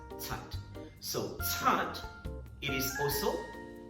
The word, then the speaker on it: cat: C-A-T, consonant C, C-A-T, cat. It's not cat. Alright, don't pronounce it as cat. So it should be pronounced as tat.